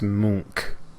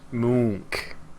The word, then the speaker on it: Monk: You mispronounced that. It's Munk. Monk? Munk. Monk? There you go.